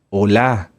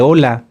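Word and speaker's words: עולה: se llama en hebreo holá holá holocausto holá sí no como de Hola No Hola acento en la a y va con h final las ofrendas de oblación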